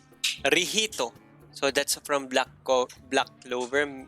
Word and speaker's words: Licht: How to pronounce? Rihito.